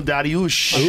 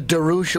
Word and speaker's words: Dariush: Does the Darush, what's his name? Dariush. Did he wrestle over 8 years in No, but he's college? really good jiu-jitsu. No, but he's world class on the ground. It's pronounced Dariush.